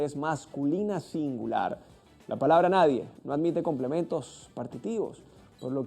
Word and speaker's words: nadie: escribir mal por ejemplo si eres de los que dice naden estás en un grave error sin esa n de cierre Nadie es como se debe escribir y pronunciar Este es un pronombre